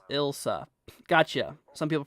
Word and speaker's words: Ilsa: ilza okay Julie says uh Elsa is indeed pronounced ilsa gotcha some people pronounce it ilsa okay I'm gonna call it ilsa because that's kind of what it sounds like